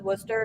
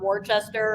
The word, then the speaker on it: Worcester: in Worcester Massachusetts uh which I learned in January you pronounce as Worcester not Worchester or anything like that uh but